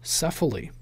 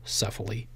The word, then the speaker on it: Cefaly: do an unboxing of sefa lee now before we actually get to the unboxing many of you may not know what sefa lee is sefa lee is spelled CEF a ly and it is an